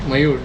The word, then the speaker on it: Mayur: I'm pronouncing it correctly? Yeah, perfect. Mayur, yes.